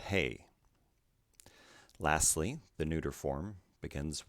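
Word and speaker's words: ἡ: ha the next form the feminine begins with a rough breathing followed by the vowel eta which is pronounced a rough breathing plus ada then is pronounced hay lastly the neuter form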